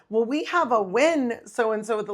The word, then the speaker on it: Nguyen: You're just pronouncing it wrong." That's a hard one, though. It is. Win.